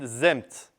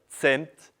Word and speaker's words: zemt: But then we saw that in linear Elamite writing, it is recorded zemt. Z-m-t. Zemt, or very probably the pronunciation was tzemt, zemt, or themt. Well, more or less, zemt.